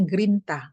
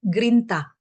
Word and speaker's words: grinta: greit bahasa Inggrisnya ya tapi bahasa Italianya grinta ada n-nya Jadi saya salah pronounce ya tadi ya grinta grinta Tu apa grinta